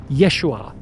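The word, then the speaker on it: ישוע: His real name was Yeshua Kamashiach. That's how you pronounce it in Aramaic.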